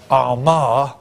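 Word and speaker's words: Armagh: saint and in the Middle Ages his church Omar as it's pronounced which is here okay was or at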